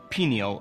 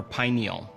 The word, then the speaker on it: pineal: Let's start with the word pineal or pineal. Both pronunciations are correct.